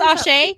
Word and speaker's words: Asé: Yeah, I may leave you ladies there to do your Asha review, which sounds amazing, actually. Yes, Did I I'm pronounce very it excited. correctly? Yeah, it's Ashe.